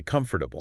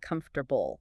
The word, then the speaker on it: comfortable: We don't say comfortable. I say comfortable. We lose a whole syllable in that one.